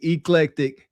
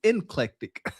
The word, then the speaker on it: eclectic: Now, you saying it correctly, eclectic. Cam was inclectic. Okay. Okay. Inclectic.